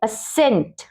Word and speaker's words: ascent: एस के बाद अगर सी आए, जैसे ASCENT, इसको कैसे पढ़ेंगे? असेंट, असेंट, एसेंट मीन्स आरोहण।